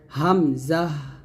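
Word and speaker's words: ء: বিধিত পড়িত হয় অর্থাৎ হামজা যখন আপনি উচ্চারণ করবেন টান দিবেন না হামজাহ হামজাহ এরকম উচ্চারণ করতে হবে তারপর হচ্ছে ইয়া জিহ্বার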